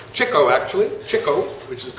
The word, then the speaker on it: Chico: okay read along with me if you would Chico Cho actually Cho which is the correct correct pronunciation Cho Leonard Marx and Harpo Arthur Marx